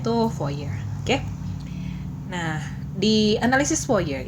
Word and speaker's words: Fourier: Kalau penulisannya Fourier tapi bacanya itu Fourier.